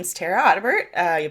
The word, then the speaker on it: Audibert: sure uh yeah so my name is tara ottebert uh you pronounced it exactly correct um i am of